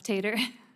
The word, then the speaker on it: Tatar: And Ms. Tatar, is that the right way to pronounce that? Close enough, Tater. Well, I mean, as the